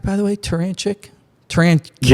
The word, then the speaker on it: Turachnik: Joining me, as I mentioned, from up there in the central region of Illinois, Coach Terranchic. Did I pronounce that right, by the way? Tarantic.